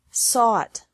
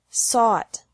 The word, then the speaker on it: sought: fight fought fought seek sought sought teach taught taught think thought thought remember that the g is silent in these verbs verbs with three different